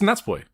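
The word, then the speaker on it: Natsupoi: So you could It could be It's Nats Boys. If they're talking quickly swallow it. Yeah. It's Yeah. They will swallow the U. It will just be Nats Boy.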